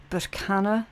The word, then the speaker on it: Berkana: energy of the rune Berkana or Berkano. Okay, it's pronounced both ways, both are correct, doesn't really matter, it's all about the intent, right?